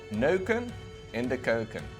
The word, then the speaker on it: neuken in de keuken: Neuken in de keuken. Yeah, we generally don't really pronounce the last N in those words.